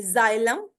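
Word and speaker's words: xylem: ऑन to next slide rule number 10 pronounce x like z एट the beginning of a word अगर beginning में आ जाए व एक्स ठीक है तो इसको हम जी की साउंड में प्रोनाउंस करेंगे जाइलम ठीक है जाइलम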